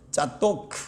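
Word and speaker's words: צדוק: 사실은 히브리 발음으로 짜도크 이러는데 사독인데요.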